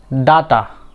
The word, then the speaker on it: data: ডাটা।